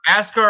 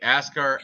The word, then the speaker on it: Askar: don't know i'm sure oscar ascar yes there you go uh russian he is definitely askar askar is russian correct